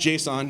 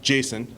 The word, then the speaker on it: JSON: It's pronounced JSON, not Jason, by the way.